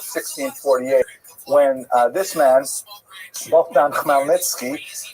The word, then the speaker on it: Khmelnytsky: The first of them is the Khmelnytsky Rebellion of 1648, when this man, Bogdan Khmelnytsky, sometimes horribly mispronounced Chmielnicki, because that's the Polish spelling with an American pronunciation, but the pronunciation is Khmelnytsky, led an uprising of